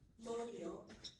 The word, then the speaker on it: mondial: Mondial. Can I please have all the information? Of course. Mondial or mondial, are the two pronunciations I've given, is an adjective.